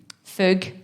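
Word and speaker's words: fugue: my show is called fug for the non-french speakers how do we spell that f-u-g-u-e oh like yeah like a few say exactly sort of um linked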